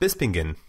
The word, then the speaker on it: Bispingen: How do you pronounce that? Bispingen.